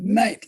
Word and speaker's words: knight: anyone learns that that knight like a guy with a sword is spelt the way it's spelled it it has a k we don't pronounce it but it is okay